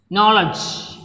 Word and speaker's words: knowledge: So, look at the example, knowledge. So, here K is silent.